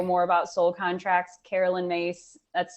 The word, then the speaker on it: Myss: wants to know more about soul contracts carolyn mace that's spelled myss she's got an amazing book on